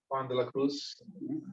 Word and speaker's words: Juan de la Cruz: the kind of Saint Teresa of Avila, Saint Juan de la Cruz, that's the correct pronunciation.